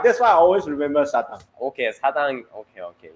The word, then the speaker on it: 사당: station in Korea, Sadang. 사당. Yes. Sadang. Yeah, 사당. I always miss that station. Why? I don't know. Why? But 사당. that's why I always remember Sadang.